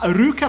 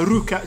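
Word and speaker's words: Luka: Ma Ryuka potrebbe essere la pronuncia, però può comunque essere scritto Luca nel... E poi in realtà Ryuka, cioè la L pronunciata R, è tipica delle donne e dei personaggi effeminati.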